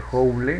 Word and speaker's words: Joule: El trabajo o energía o cantidad de calor se mide en Joule, se pronuncia Joule, ¿no?